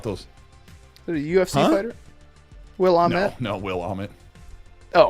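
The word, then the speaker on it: Willamette: that it's like it's willit if you're from the Northwest you know it's willit is how you say it and they call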